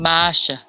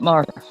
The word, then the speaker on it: Masha: And I'm saying Masha. Masha, not Martha.